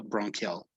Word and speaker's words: bronchial: primary bronchi okay yeah this one would be bronchial it's like a q right ch sounds like a q so bronchial bronchial okay this is 3 which